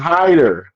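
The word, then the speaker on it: Hiter: don't want to J it's not hitter though it's Hider they I I heard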